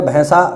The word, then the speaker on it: भैंसा: भी ध्यान रखना फिर भैसा भैसा का तत्सम है महिष ठीक है भैसा नहीं इसका सही उच्चारण होगा भैसा भैंसा इसका और इसका जो